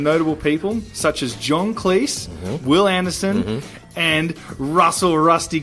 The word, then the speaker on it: Cleese: introduction John Cleese is Cleese as in rhymes with cheese he told me that